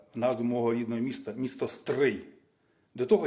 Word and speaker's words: Стрий: мого рідного міста місто Стрий до того Я жодного разу не чув щоб якийсь росіянець говорив моє місто Стрий як Стрий Вони всі говорять стрій або Стрий а Стрий саме от перший раз